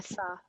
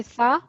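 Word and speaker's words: ث: So firstly, read it with a sin and then read it with a tha.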